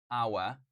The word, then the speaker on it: hour: I said that is our so our here H is silent guys all right C is